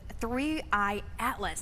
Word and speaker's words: 3I/ATLAS: But let's talk about the the new things with three Atlas. That's the correct way to pronounce it, correct?